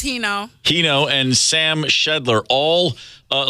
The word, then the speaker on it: Hino: do you say that name yeah it's heo heno and Sam shedler all uh locally based uh